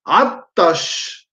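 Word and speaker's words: عطشان: Me queda attash con doble T. Attash.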